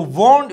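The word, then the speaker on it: won't: और यहां पर जो वोंट वेल नॉट है, याद रखिए इसको हम वोंट कहेंगे, क्या कहेंगे? वोंट प्रोनाउंस करेंगे। अक्सर अमेरिकन और ब्रिटिश वोंट प्रोनाउंस करते हैं इसको, वोंट।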